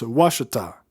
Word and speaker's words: Ouachita: de ouachita en arkansas ça s'écrit un peu bizarrement ont eu à ch itea mais ça se prononce washed à je n'ai pas encore